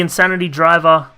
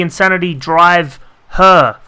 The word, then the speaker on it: Insanity Drive Her: about this last week it's actually called the insanity drive her as in drive her insane so it comes off